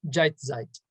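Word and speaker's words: Jetztzeit: and now which um in german is pronounced jeitzeit which he writes in thesis 14.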